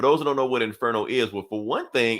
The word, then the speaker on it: Inferno: know what inferno is inferno you've got to roll your r's dude in there no i